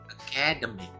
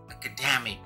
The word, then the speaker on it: academic: Orang bahasa Indonesia sering salah mengucapkan menjadi academic. Tekanannya di kedua, salah. Harusnya academic, penekanannya di dua dari belakang.